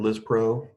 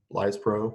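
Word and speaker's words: lispro: we've got Humalog or liz pro lies pro whichever we want to pronounce it it's available is au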